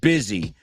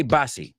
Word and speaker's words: busy: okay the next one a lot of people mispronounce the word busy and they say bassi m it's not English not the way it works so busy well what